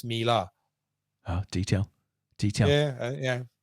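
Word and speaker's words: Miele: pronounce wrong um i i used to pronounce so so the washing machine man melee german company m-i-m-i-e-l-e i've always pronounced it melee until last year when i found it was mila ah detail details yeah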